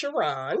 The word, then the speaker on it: Sherron: It's pronounced Sherron. Oh, Sherron, I am so sorry.